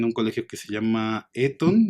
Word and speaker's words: Eton: Y él después regresa a Inglaterra, él estudia en un colegio que se llama Eton, me parece, o Eton se pronunciaría, que es un colegio muy importante, donde puede acceder gente de distintas clases sociales, ¿no?